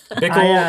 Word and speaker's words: Bickle: Bickle, spelled like pickle with a B.